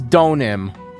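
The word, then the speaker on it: Deauxnim: Donim. I I look it up, and it's the first thing is an Ace Attorney subreddit thing. How the fuck do you pronounce Laurice Donim's name? It's Donim. Okay.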